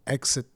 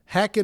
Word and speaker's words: Heccett: Oh, it's supposed to be pronounced Heccett? I was wondering how you're supposed to pronounce that, if it was Heccett or Exit or Heccett.